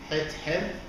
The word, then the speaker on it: Hathor: two pictures of goddess Hathor. Goddess Hathor, or Hathor, if we pronounce it in English according to how we write the name in the English letters, H-A-T-H-O-U-R. So we pronounced Hathor or Hathor, Het-Her, which means the house of Horus.